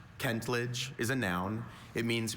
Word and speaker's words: kentledge: Kentledge also kentlage. May I have all the information please? Kentledge. Kentlage is a noun.